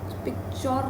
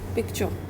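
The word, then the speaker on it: picture: का, pick, then पिक्चर, ये च और तो इसमें भी आर साइलेंट है, पिक्चर नहीं होता, पिक्चर।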